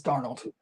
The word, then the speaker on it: Darnold: Is it Sam Darnold or Sam Darnold? Arnold. Is it being silent? I never knew. I meant to ask this the other day. It's Darnold. Darnold.